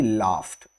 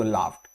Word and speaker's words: laughed: Okay, the D in laughed is pronounced as T. Okay, and it's a long A. Okay, so laughed.